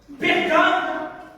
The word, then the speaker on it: Pergame: Pergame, 2 syllabes, Père et Game.